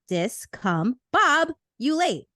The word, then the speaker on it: discombobulate: of the day is discombobulate spelled D i s c o m b o b u l a t e pronounced discom Bob you late it is a verb